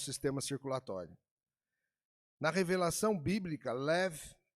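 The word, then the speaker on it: לב: Ela pronunciada é lev, lev.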